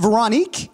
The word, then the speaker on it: Véronique: Is it Véronique? Yes. Wonderful pronunciation.